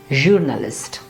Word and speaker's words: Journalist: job and this word journalist pay attention to the way the gear sound is produced here it's like in engineer it's again french journalist however in some international